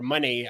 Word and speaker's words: Moné: But like I said, you don't bring in Mercedes Moné without, or money. It's pronounced money or Monet. Money.